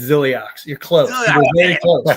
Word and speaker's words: Zilliox: And by the way, Iceman, it's Zilliox.